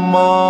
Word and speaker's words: मा: सा रे गा मा, अब आप जब भी माँ का उच्चारण करें, जब भी माँ बोले तो माँ को बोलते समय आपके जो लिप्स होते हैं, होठ होते हैं, होष्ठ भी बोलते हैं उसको, होष्ठ यानी कि जो होठ होते हैं, होठ प्लस नाक का सहारा लेना है। बिना नाक के सहारा लिए आप इसको तरीकेबद्ध नहीं बोल सकते, उच्चारण नहीं कर सकते, आपका स्वर कहीं ना कहीं चूक जाएगा।